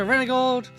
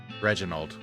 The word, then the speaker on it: Reginald: Go talk to Renegold and the bunkhouse. I'll pronounce Reginald. Oh my god. I'm gonna stop you there. Reginald. Yeah, Reginald. What?